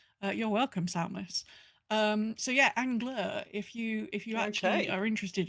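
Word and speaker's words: Angleur: But yes, it's spelt Angler, A-N-G-L-E-U-R.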